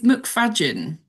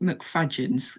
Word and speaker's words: McFadzean: It's McFadzean. So it's like fudge, but with an A. It's spelt McFadzean, obviously, but McFadzean. It's a Scottish name, down to Scott.